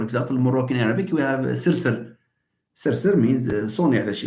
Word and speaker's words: سرسر: Sirsir, there is no vowel. Now, here, the language has opted for the selection of r, which is the liquid, okay, to be the peak of the syllable.